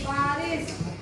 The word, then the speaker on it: बारिश: बारिश। देखो, श बोलो, श। श के उच्चारण करते वक्त मुंह से हवा छोड़नी चाहिए।